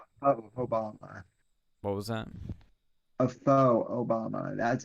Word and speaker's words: faux: A faux Obama. That's how that's pronounced.